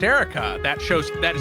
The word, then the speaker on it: Eureka: who's like what anime I think it's pronounced Erica that shows that it's